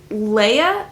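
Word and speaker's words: Laia: one is basically about Leia I think is maybe how you pronounce the name it's l a i a the only way that I can think to say that would be Leia so that's what we're going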